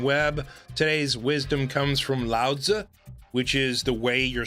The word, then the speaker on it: Laozi: I pronounce his name Lao Tzu which is how Chinese people pronounce it and how he pronounced